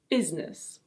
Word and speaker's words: business: I know it looks like it has three syllables, but we pronounce it with two syllables. So it's: business.